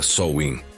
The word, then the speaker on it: Samhain: Como você está descobrindo, tudo começou com o festival de Samheim, que se pronuncia Sol Win, celebrado pelos celtas há mais de 2000 anos.